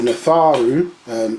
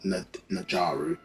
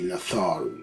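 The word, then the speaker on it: Nadjaru: Natharu, and so that DJ is pronounced like a it's more as a TH sound for the pronunciation. Yeah, so it's not Najaru, it would be Natharu, like a TH sound, because it's a single letter.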